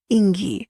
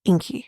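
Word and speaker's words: Ingi: sorry she they say Ingy and she's like Inky iny the G it actually sounds like a k which is a Zinky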